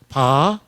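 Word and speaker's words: ברך: 날이라 잘하고 가야 돼요 바라크 이게 히브리 말을 오른쪽에서 왼쪽으로 나가요 이게 비 발음이고 알 발음이고 이게 Q 발음 또는 kh 발음으로 돼요 바라락 오른쪽에서 왼쪽으로 나가요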